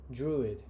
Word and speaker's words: Druid: distinct counts estimates dream am I pronouncing it right even druid drude or druid druid druid During druid ingest, we